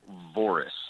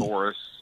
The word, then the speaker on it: Voris: How do you pronounce it? Michael Voris. Oh, just you're like me. Voris.